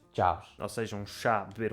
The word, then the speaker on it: Chaves: Eu digo Chaves, não é? Chaves. Tu dizes Chaves. assim mais... Não é um B forte, mas é um ligeiro B. E depois o pessoal mais das aldeias e o pessoal mais velho diz... Chaves.